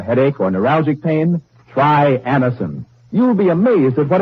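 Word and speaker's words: Anacin: Next time you have a headache or neuralgic pain, try Anison.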